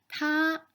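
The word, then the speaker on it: 他: is pronounced as war and written like this ta the pronunciation for both him or she so here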